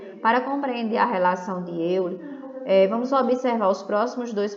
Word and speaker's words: Euler: Se escreve Euler, mas se lê Euler.